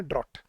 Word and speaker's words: drought: अब देखना, ए है DRAUGHT और सी है DROUGHT, लेकिन ए वाले की प्रोनाउंसिएशन है ड्राफ्ट और सी वाले की प्रोनाउंसिएशन है ड्रॉट।